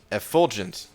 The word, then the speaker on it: effulgent: Please pronounce as F-full-gent. Wait. Was I saying it a different way? Effulgent. I don't know. You know what? I got this. Effulgent. Effulgent. So yeah, maybe it's slightly different than how I was saying it, but you know.